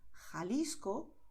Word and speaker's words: Jalisco: mitad de la garganta, pero es un sonido suave, como en inglés cuando dices hot. Por eso, en muchas zonas donde se habla el español, los nativos dirán Jalisco, Ojeda, Jipijapa, Tajo, Tajuña, Gerona, Gijón.